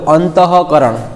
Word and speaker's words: अंतःकरण: पण अमुकमां तमे जो अंतःकरण, एमां अंतः पछी विसर्ग आवे तो एनुं उच्चारण थाय छे, बराबर।